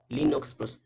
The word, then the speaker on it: Linux: of macos over windows lastly is the linux linux pronounced lean box is a family of open source